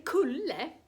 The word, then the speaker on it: kulle: En kulle uttalas K eftersom U är en hård vokal.